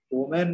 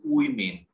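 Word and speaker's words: women: হ্যাঁ sir, fourth উচ্চারণ যেটা দেখেন হচ্ছে যে ফোর মানে যে ফিফথ উচ্চারণ যেটা, এখানে ফিফথ উচ্চারণ কি আছে? ওম্যান নাকি উইম্যান হবে বলেন তো? ওমেন। এটা উইমেন, উচ্চারণটা হবে আচ্ছা উইমেন, উইমেন, বুঝতে পেরেছেন?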